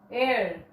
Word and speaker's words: heir: Heir, heiress. This is for heir. H is silent.